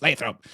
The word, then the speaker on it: Lathrop: Lathrop by the way kudos for pronouncing Lathrop correctly I've heard so many people calling it something else and I'm like it's Lathrop um how do you think